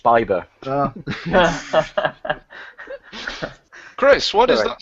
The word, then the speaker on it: Bieber: Still Why Huckleberry I than Justin Bieber. I think you'll find it's pronounced Bieber.